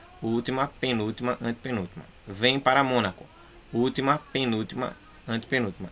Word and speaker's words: Mônaco: Mônaco e paralelepípedo é proparoxítona e espécie paroxítona.